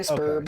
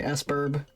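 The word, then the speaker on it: Sburb: I also don't know if I'm pronouncing sperb right or if it has a exact pronunciation. It really doesn't. Some people say spurb, some people say esperb.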